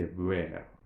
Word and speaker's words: where: not supposed to pronounce, we are not supposed to articulate that h sound there. We don't say which, we don't say where, we simply say where, or which, or what.